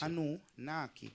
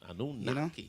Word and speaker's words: Anue Nahki: You know, it's Anunnaki. Anunnaki.